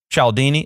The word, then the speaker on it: Cialdini: to say it you know how to say chaldini yes you know how to say it cialdini okay dr robert cialdini wrote this book called